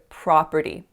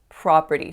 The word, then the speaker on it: property: The next word I mispronounced was the word property. Property. So instead of making that nice open ah sound on that first syllable, I said property.